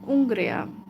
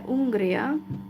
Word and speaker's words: Hungría: So, soy de Hungría, and I think the H letter is not pronounced in Spanish if it's in the beginning of the word. You know, like the first letter, it's not pronounced. It's silent.